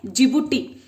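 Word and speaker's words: Djibouti: तो देखो डी फॉर जिबूटी, okay, इसे कैसे प्रोनाउंस करना है, जिबूटी।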